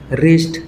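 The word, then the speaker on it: wrist: তাপ বন্ধকল রিস্ট ডবলিউ আর আই এসটি রিস্ট W silent যেনকার rape W আর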